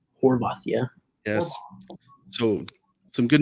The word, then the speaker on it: Horvath: And I tell you what, the goalkeeper, right, Ethan Horvath, how do you pronounce his last name? Horvath, yeah.